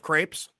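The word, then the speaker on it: crêpe: my arm if I don't say I love crepes. Yeah, right. Yeah, like is that the correct pronunciation?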